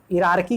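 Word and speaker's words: hierarchy: तो इरारकी कहते हैं, एच आई साइलेंट है, इसे इरारकी पढ़ा जाता है, इरारकी of organisation community at all levels.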